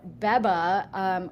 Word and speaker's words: Beba: DeFi Education Fund in conjunction with, is it pronounced Biba or Beba. Beba? Okay, so Beba, which is an apparel company, had airdropped some Beba tokens to people as like a marketing play, right?